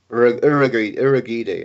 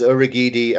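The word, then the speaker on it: Urhoghide: Is there a received pronunciation now for his name? Urugide? Urugidi, I think, yeah, that's it.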